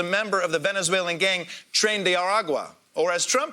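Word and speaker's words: Tren de Aragua: ICE has been rounding up any immigrant who they suspect is a member of the Venezuelan gang trend aragua or as Trump pronounces it trendy aruay muen sor presidente.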